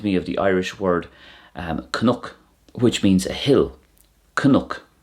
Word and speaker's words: cnoc: And this reminds me of the Irish word cnook, which means a hill. Cnook. And it could be pronounced crook as well.